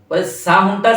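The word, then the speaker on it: ساهون: আন সলা আমি চাপের উপর বলেছি, সাহুনটা সিনের উচ্চারণটা ভাসি বলেছি।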